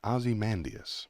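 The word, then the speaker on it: Ozymandias: me up a little bit the first is azy mandus by Percy bash Shelly azy mandus is spelled Oz y m a n d i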